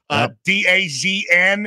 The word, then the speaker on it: DAZN: DAZN, if you guys don't know how to pronounce it.